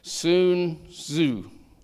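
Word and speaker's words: Sun Tzu: the way it's spelled s n but it's pronounced s o o n soon zoo was his name and he said know your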